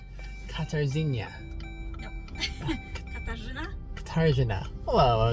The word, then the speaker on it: Catajena: So once more, Catajena. Jena. Catajena. Did I say it right? Catajena? You don't need to say R. It's not Catajena, it's Catajena.